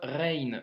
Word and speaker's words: غ: leçon numéro 24 donc la lettre rain se prononce comme le r en français que tu retrouves par exemple dans le mot paris donc c'est le même son cr ça marche et